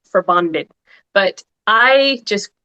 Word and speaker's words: Forbandet: the pronunciation, it the the proper technical pronunciation is for bonded, but I just say in my own Americanized way for bandit.